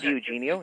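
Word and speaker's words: DiEugenio: weeks ago, I listened to James uh Jim De Junio. Is that how you pronounce it? Yeah. Jim Eugenio.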